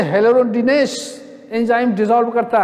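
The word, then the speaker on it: hyaluronidase: हाइलोरोनिडेज HY, इस पर देखिए HYLAURODINASE, हाइलेरोडिनेज।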